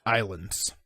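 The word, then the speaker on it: Ylands: light-hearted game ye lands Islands is how it was pronounced it's y la and es like the letter y la India but it's pronounced islands don't starve slash marking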